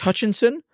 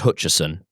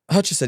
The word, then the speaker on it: Hutcherson: I um I just I I played Fortnite with Josh Hutchinson of It's Josh Hutcherson. Hutcherson.